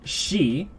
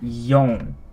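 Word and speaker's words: 四: So, this, for number 4, there's actually 2 pronunciations that are commonly used for it. One of them is, well, I just said, shi, but I think the more commonly used one is yon.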